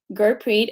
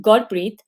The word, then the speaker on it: Gurpreet: but i have also adapted my name to gurpreet instead of pronouncing a um so i'm correcting myself as well that my name is pronounced god breathe not um so i'm going